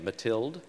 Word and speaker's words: Mathilde: But in the second half, we found out that's so much more complex that, I'm sorry, I'm mispronouncing her name, Mathilde? That's how I say it, but you can say it however you like.